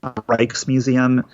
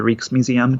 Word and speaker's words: Rijksmuseum: Rijksmuseum, or the Rijksmuseum, depending on how you pronounce it, is the world-class art museum that has a massive collection.